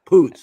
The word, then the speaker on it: Poots: is Poots he's like yeah Poots that's how you pronounce it Poots there's nothing funny about